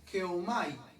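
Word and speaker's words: γεύομαι: Esa palabra gustaron, o sea, el don, sabemos que es dorea, gustaron es geomai, significa ge de gato, geomai es probar, geomai con i latina, y acento en la u.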